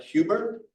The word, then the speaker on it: Huber: Laura Salou Mayflower Medal Project was founded by previous Howland Quarterly editor Robert Huber. Is that how you pronounce it?